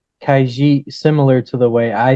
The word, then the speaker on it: Khajiit: But in the game, they say Khajiit. Huh? In the game, most of the voice actors pronunciate it Khajiit.